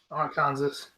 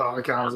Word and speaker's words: Arkansas: In the Lone Star State joining Arkansas. Yes, they call it Arkansas. Arkansas. That's Arkansas. Oh, Arkansas, shit. why Kansas spelled like that?